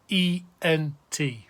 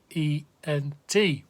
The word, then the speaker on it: on: Drop the RE to get a stem, to which you add S, S, nothing, ONS, EZ, ENT.